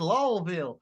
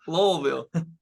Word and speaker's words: Louisville: Louisville like what it's lville lville it's like it feels like when you pronounce it the S gets forgotten oh yeah it's like